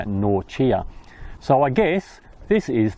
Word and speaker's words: Norcia: saint benedict which was in nausea in italy or pronounced something like norchia so i guess this